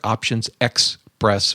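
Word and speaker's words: optionsXpress: Express 100 it's options it's spelled o p t i o NS x p r SS 100 there's no e in there options X press 100 that is an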